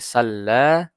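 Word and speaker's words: صلّى: nah menjadi salla nah ditekan lamnya salla salla bukan salah tapi salla ini khusus untuk bertasdid ketika huruf-huruf bertasydid maka Dia membacanya ditekan misal Bismillahirrahmanirrahim salla sama dengan salla sallama artinya ditekan ditahan dulu tabbata fabata Fada faroha dan seterusnya sama ini khusus untuk yang bertasdid Oke ingat ya kita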